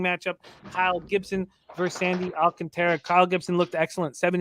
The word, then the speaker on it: Alcantara: i can always say i was pronouncing his name wrong for so long and now alcantara that's right right alcantara five innings three